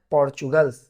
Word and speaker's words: Portugal: ये लिखा जाता है पोर्तुगल, मगर इसको प्रोनाउंस करते हैं पोर्चुगल्स, और हिंदी में बोला जाता है पुर्तगाल, जिसे आप बोलते हैं या आप या हम जिसे बोलते हैं पुर्तगाल।